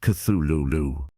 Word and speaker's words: Cthulhu: However, Lovecraft wrote that the closest pronunciation is Cthulu.